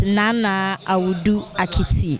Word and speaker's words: Naana Awudu Akiti: Naana Awudu Akiti, the first.